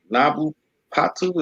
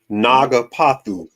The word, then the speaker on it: Naga Paku: Nabu Patu, is that how you say it? Naga Paku. Nah, Paku. Okay.